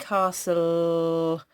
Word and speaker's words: castle: there it is Cass but you can't hear this silent cast so can you hear the sound at the end Castle after the silence huh there is a Oh